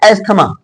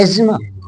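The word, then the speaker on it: asthma: अस्थमा अस्थमा बोलते हैं जबकि अस्थमा हिंदी में बो बोला जाता है इसको एक्चुअली इंग्लिश में होता है एजमा एजमा हिंदी में अस्थमा बोला जाता है अस्थमा या दमा लेकिन एक्चुअल में इसको इंग्लिश में देखा जाए तो एजमा यहां पर रेपो रेपो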